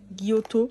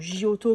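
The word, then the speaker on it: Giotto: donc de la marque gioto pour ceux qui le prononcent comme ça ou gioto comme moi je le dis voilà ensuite on va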